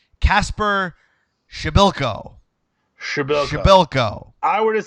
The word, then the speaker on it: Przybyłko: What a goal by, I had to write this out phonetically, Kasper Przybyłko. I would have said Przybyłko.